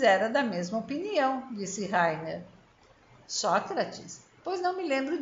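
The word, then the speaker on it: Rainer: Eu já lhe disse que meu nome se pronuncia Heiner e não Reiner.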